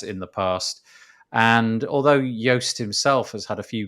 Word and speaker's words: Joost: despite the fact that it's spelt j-o-o-s-t um is pronounced yost it's that's hence why